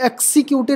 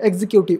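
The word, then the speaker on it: executive: asset exit एग्जीक्यूटिव एी इसे एक्सक्यूटिव नहीं पढ़े एग्जीक्यूटिव exam examiner EBIT clear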